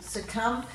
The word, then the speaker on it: succumb: In these bottom ones, we've got a silent B in debt, doubt, subtle, succumb, and in yacht, we've got